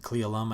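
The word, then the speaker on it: Cle Elum: one here at 58 klee alum i think is how you say that but others are still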